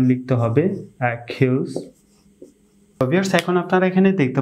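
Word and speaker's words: Achilles: উদাহরণ সমূহের মাধ্যমে বিষয়টুকু আপনাদের সাথে শেয়ার করছি অ্যাকিলস অ্যাকিলস অ্যাকর্ডিং ভিউয়ার্স আমি এখানে দুইটি উদাহরণ সময়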